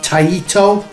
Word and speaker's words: Taito: tatio t-show maybe there is other variations um taito so taito tato taito i don't know there's